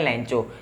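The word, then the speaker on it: Lencho: First of ऑल, सबसे पहला character कौन सा है मैंने बताया, दैट इज लेंचो भी कहते हैं, कई लेंको भी कहते हैं। मैं प्रोनाउंस करूंगा लेंको, कई प्रोनाउंस करते हैं लेंचो।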